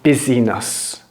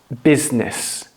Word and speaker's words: business: Don't say business. It's business. Business. This is business.